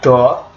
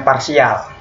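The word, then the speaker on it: ∂: Oke, ini bukan dibaca do, ini dibacanya parsial. Oke, C adalah fungsi gelombang.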